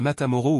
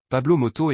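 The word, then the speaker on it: Pablo Motos: l'animate de l'émission est Pablo moto pas matamoro ou matamoto comme je l'avais mal prononcé au début Pablo moto est connu pour interviewer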